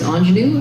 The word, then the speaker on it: ING3NU: You can find me on most platforms as Ingenue, ING3NU, because the 3 is silent.